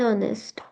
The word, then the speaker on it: honest: And honest.